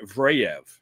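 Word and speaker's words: Zverev: And the other one is Alexander Vraev is the pronunciation.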